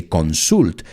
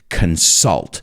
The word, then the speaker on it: consult: calendars and there's another one my students sometimes mispronounce that and they say consult but it's consult we consult our calendars we get directions when